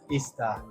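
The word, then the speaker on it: isda: Ista.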